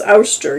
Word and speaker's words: Oster: is by the a is it oyster ooster it's ooster yeah it's the same name